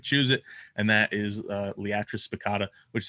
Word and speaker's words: Liatris spicata: And so that's some of it's like, I say Liatris spicata, but then some say Liatris.